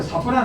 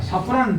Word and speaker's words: 사프란: 이것도 사프란 하는 건데 실제 사프란 하면은 이 샤프란을 하면 안 됩니다. 샤프란은 땡, 사프란이 맞습니다. 여기는 비누가 샤프란이지, 그죠? 그래서 사프란으로 해야지 샤프란으로 발음하면 안 된다는 걸 제가 말씀을 드리고요.